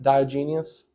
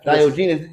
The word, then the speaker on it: Diogenes: Diogenes. You sound like you said Diogenes. Well, that's how you spell it. Like like the soap, like genius? Like Diogenes? Diogenes. No. You gotta say it Greek.